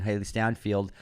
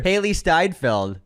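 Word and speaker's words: Hailee Steinfeld: Jordan, Haley Stanfield, Haley Steinfeld.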